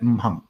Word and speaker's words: Wu Xing: It pronounced at Wu Xing.